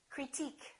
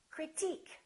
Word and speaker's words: critique: engineer we say engineer another rule if the word ends with i quu e we stress the suffix antique Boutique critique technique listen technical technique it changes critical critique let's learn another rule